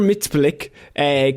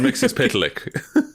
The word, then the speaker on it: Mxyzptlk: I think you're slipping on the pronunciation again. I will say just for what's worth you say that 50 times. Mr. Mix's pit lick.